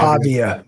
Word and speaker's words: Pavia: Pavia.